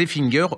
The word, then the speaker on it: Effinger: Et ça s'appelle Les Effinger, Comment ça s'écrit?